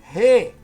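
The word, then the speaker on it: ἡ: Re, de novo, re. Por quê? Porque a aspiração aí é áspera, artigo feminino, no nominativo singular.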